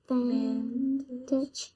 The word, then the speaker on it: advantage: How many syllables is in this word? 3. Yes. And where's the accent? Second. Okay, so let's sound out each syllable. Add. Advantage.